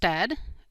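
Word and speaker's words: usted: things if you notice Ed can be spelled out completely or it can be abbreviated as shown in parenthesis either way it's pronounced Ed and you are welcome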